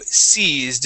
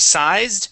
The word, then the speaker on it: seized: Okay, let's go to seized. Instead of sized, it is seized. Ah, okay.